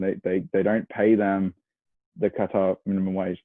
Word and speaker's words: Qatar: Qatar does, and that is actually how it's pronounced, Qatar. Qatar. Yeah, it's pronounced like Qatar. You cut on my lawn.